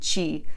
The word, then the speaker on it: ci: about some pronunciation rules when the letter c is followed by an i or an e it always sounds like CH when the C is